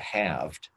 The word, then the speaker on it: halved: audio you know hearing the word halved you know with the silent L is awkward you know